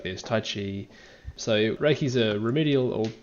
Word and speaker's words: Qi: might be thinking about Chi which is spelled Qi so essentially Reiki uses